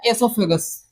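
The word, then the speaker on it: oesophagus: पांचवा पाट हो गया सोगस ई साइलेंट होता है सोगस बोलते है सोगस ये हो गया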